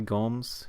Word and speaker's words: Gomez: I think the proper way to pronounce it is probably Gomes, given Portuguese pronunciation, but not too sure.